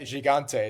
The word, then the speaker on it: Gigante: Matteo Gigante, I'm going to say that wrong. Christian, you're the Italian. I'll let you correct me. Yeah, Gigante is how it's pronounced.